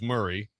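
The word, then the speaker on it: Maury: Uh Murray County, too. Mori is Murray.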